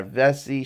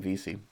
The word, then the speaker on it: Vesey: to Jimmy VC by Vesey Street I call it Vesey Street but I think we pronounce his name VC to try and get